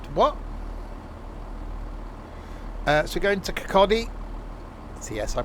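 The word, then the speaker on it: Kirkcaldy: Remind me what uh so going to Kakotti. See I pronounced it right.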